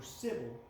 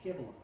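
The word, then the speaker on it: Cybele: They were associated with the goddess Kibble. I made the mistake of calling her Sybil. It's Kibble.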